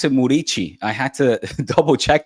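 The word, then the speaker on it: Muriqi: Uh Muriki, who actually you pronounce it Murichi.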